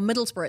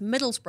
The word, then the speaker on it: Middlesbrough: to call it Birmingham or Middlesbrough it's Middlesbrough and not Middlesbrough but you guys say like